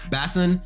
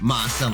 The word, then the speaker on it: Bason: Like, I keep on saying Basin when it's pronounced Ma-sun, like the manga actually says it's pronounced Ma-sun.